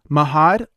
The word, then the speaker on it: Mahad: his background and thank you for coming on Mahad hey Lola thank you so much for writing me yeah did I pronounce her name okay there yeah Maude yep